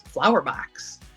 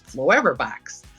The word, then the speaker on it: Flowever Box: When you look at the letters, you look at it and you want to just naturally say it's flower box. But when you look at the letter and you actually pronunciate, it's Flowever box.